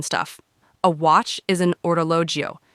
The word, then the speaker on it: orologio: A watch is an orologio. Now that one can be a little tricky, so let's say it's slow. O-ro-lo-gio. Perfect. A bracelet is a bracciale.